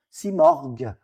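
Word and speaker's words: Simorgh: Donc vous voyez bien l'évolution mar à la fin que nous on prononce morg. Simorg, ça c'est oiseau cette partie-là du mot on va voir après ça.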